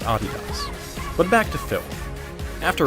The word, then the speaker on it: adidas: by the way that is indeed how you pronounce adidas but back to film after writing that paper